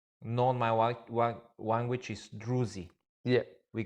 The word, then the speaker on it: Druze: How's, so by the way, like correct way to say it? Druze. Druze. Yeah, not Druze.